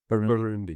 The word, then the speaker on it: Burundi: Burundi. Yeah. Burundi, yeah.